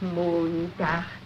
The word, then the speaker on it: Montag: That is good, but pronounce the words broader, so Sonntag, Montag, Dienstag, yes?